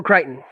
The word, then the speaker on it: Crichton: I mean, anything with Michael Crichton, that's how you pronounce it? Michael Crichton. Michael Crichton, yeah.